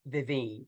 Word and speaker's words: Vivine: example of that I my name is vivine and a lot of people find it difficult to say vivine two syllables vivine and so I've had